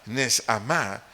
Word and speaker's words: neshamá: Esa palabra aliento del vocablo hebreo neshamá, N-E-S-H-A-M-A, acento en la primera A, neshamá, tiene varios significados.